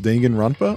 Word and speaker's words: Danganronpa: what this is uh I know it's pronounced dangan ronpa only because when I